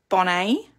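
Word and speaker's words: Bonnet: our wedding celebrant silven Bonet it was a stent tea I think he was oh was he French or swiss well we didn't pronounce the tea I remember remember that so silven Bonet and Witnesses Andrew Dona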